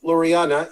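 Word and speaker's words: Laureano: lorana loriano loreanna i am our resident uh pronouncer ramon loriana he is a stud he's when he comes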